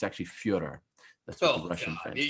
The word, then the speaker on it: Fyodor: It's actually Fyodor.